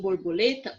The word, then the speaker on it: borboleta: aqui ó borboleta então quando eu falo borboleta o lê eu falo mais forte o mais alto tá bom então lê é a sílaba tônica da palavra borboleta mágico a